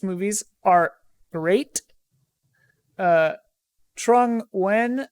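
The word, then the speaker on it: Nguyen: uh corey jackson says any of the recent one-piece movies are great uh trung when says i'm saying it when n-g-u-y-e-n my friend chris pronounces that when so i'm assuming they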